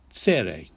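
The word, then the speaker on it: צירה: The next long vowel is tsere, which is 2 horizontal dots underneath, and this is a long E sound.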